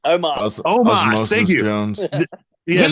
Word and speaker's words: Omos: look bad because he was such a, or Osmos, whatever. How do you say his name? Omos.